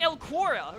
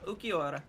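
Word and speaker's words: Ulquiorra: always thought it was like El Quora or something. No, Ukiora.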